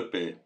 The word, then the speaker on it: Peilz: L'origine de la Tour de Paix est un mystère. Certains pensent qu'il provient du nom latin Turis Pelliana. D'autres, du déterminatif paix, prononcé comme le mot paix.